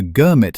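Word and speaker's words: girmit: Under what came to be called the Gurmit system, named for a local mispronunciation of the English word agreement, Indian workers signed multi-year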